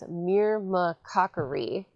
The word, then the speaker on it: myrmecochory: This is a process known as myrmecochory. I had to actually write out that pronunciation because it's such a long word.